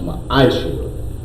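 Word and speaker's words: מעשר: You can find this in Numbers 18:21, Malachi 3:8-10, means 10th in the Hebrew, and it's pronounced ma'ashra.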